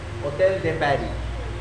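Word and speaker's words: Hôtel de Paris: করতে পারছি সেটা হচ্ছে হোটেল দে প্যারি ঠিক আছে ওরা হোটেল বলে ঠিক আছে হোটেল দে প্যারি আর এসটা সাইলেন্ট আছে তো প্যারিসের স্টাইলে এরকম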